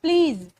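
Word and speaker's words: please: भी फोकस करना है कई बार हम लोग इसको प्लीज या प्लीज करके बोलते हैं दिस इज रंग you have to pronounce it like ज नॉट ज है ना आपको कहना है प्लीज या तो प्लीज या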